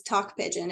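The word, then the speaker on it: Tok Pisin: we started recording the talk pigeon is that how you say it yeah yeah so it's talk pigeon it's like t-o-k and then um I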